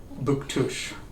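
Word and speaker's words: Bouctouche: I didn't look so we were headed to book tush yes yes that's exactly how you say it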